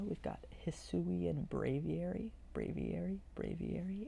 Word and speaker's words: Braviary: got hissui and braviary braviary it's not braviari i know that not braviari bravieri because it's aviary bray v airy hissui and braviary hissui